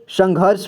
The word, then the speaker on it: संघर्ष: पढ़ते हैं ठीक है श में लगा है तो श से पहले उसको पढ़ेंगे और उसे आधा र का उच्चारण करेंगे ठीक है वो र की मात्रा लगा है तो इसे संघर्ष पढ़ेंगे यानी घ के